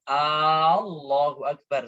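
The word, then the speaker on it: الله أكبر: Kenapa dibaca bukan Allah? Kenapa? Karena di sini hamzah bertemu dengan alif, alif lam ya. Maka dibaca panjang. Allahu Akbar seperti itu.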